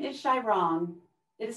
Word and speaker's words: Xiaorong: My name is Shairong. It is spelled X-I-A-O-R-O-N-G.